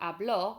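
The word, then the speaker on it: habló: or she spoke in the past you've got hablo with an accent on the o so the accent firstly changes how we pronounce the word puts the stress on the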